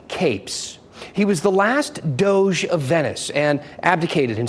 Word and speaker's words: Doge: official in an Italian city state it is pronounced Doge this is a real thing and here is